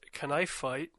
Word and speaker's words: K'nife Fight: As it's properly pronounced, knife fight as it will be labeled in my storage system.